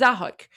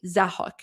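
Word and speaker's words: Zahak: This is Zahuk.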